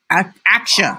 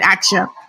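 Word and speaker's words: Axure: is as your rp action i don't even know how to pronounce it i sure actually want people call it action there's acts share s-h-a-r-e and his action uh i'm gonna go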